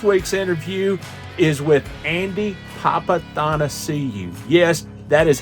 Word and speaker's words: Papathanassiou: Hey, it's your host, Rick Houston, and this week's interview is with Andy Papathanassiou. Yes, that is how you pronounce it, Andy Papathanassiou.